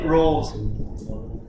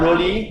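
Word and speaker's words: Rolle: uh just uh let's let's settle for the pronunciation of this r-o-l-l-e many people say rose for one version how do you pronounce it one again Rolls Royce okay so this class prefer rolly in all four they call it Rose theorem if it's continuous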